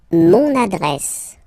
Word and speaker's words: mon adresse: Mon adresse, my address, mon adresse, okay, you can hear now this little link, so you get to pronounce this N, mon adresse, okay, and the last